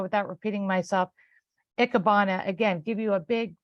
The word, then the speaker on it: Ikebana: So it's not pronounced hyphenetically of how it's spelled. It's Ikebana.